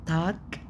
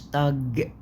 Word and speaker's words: Tag: تاك تاك تاك مش تاج لا تاك.